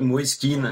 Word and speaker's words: Kean: Est-ce Moisken ? Qu'est-ce qu'il en dit l'intéressé ? On l'écoute. Non, moi je l'appelle Moiskin.